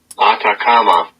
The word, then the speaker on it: Atacama: How do you pronounce it? Atacama.